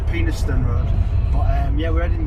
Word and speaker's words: Penistone: Pronounced Penistone Road.